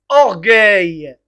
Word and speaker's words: orgueil: ne pas prononcer et g voilà donc en prononce orgueil alors les noms masculins on a gouverné regarde